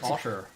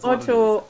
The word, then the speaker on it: Otto: I thought you said otter, right? Okay, I'm glad. No, Otto. We say it very weirdly in German. I pronounce it Otto.